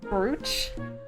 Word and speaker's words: brooch: But spelled brooch? It's pronounced brooch. Now this is a real piece of jewelry. Bought it myself. Like roach, yeah.